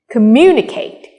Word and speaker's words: communicate: or we have geography or communicate if you count from the last syllable eight Kate Kate Ne Me we have stress on me communicate try reading the other